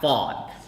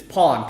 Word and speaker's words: Phon: My name is not Fawn. It's Pawn, P-H-O-N, but it's spelled P-H.